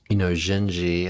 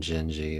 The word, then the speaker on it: Dindi: have done a video on Genji, which I believe I'm pronouncing it correct, but it's spelled Dindi.